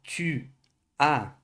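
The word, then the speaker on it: tu as: Quando a gente vai para o tu, a, esse S final aqui, a gente não pronuncia. Então fica tu, a.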